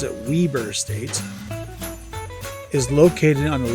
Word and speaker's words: Weber: A children's play area sponsored by Weber State University, normal people call it Weber State, whereas locals pronounce it Weber State, is located on the lower level near the center court.